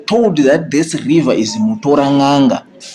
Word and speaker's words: Mutoranhanga: this river is Mutoranhanga, they could not pronounce it because we have got some of the words that we pronounce very well that the British or other non-Zimbabwean natives try to pronounce. They failed to do it, so they tried to say Mutoranhanga, Mutora Nanga. So they end up saying Toranhanga.